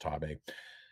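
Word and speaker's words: Xtabay: If you've ever heard of Ima Sumac, a singer, her most famous album, Voice of the Taboo, which is spelled X-T-A-B-A-E-Y, but pronounced Taboo.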